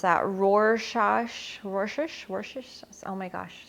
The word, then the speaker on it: Rorschach: Rorschach. Oh my gosh, sounds like Worcestershire, but it's not. Rorschach.